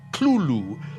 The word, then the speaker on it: Cthulhu: tells a colleague, well, it's really meant to be 2 syllables. You're supposed to put your tongue at the roof of your mouth and cough it out like Cthulhu.